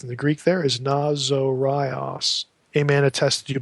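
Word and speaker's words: Ναζωραῖος: Nazorios. Notice there's a long O there. Nazorios.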